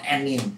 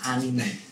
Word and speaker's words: anime: Ya, jadi anime yang benar ya, not anime, please, anime.